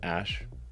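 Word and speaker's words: Æ: X letter X and then BAE is like pronounced ash yeah and then a 12 a 12 is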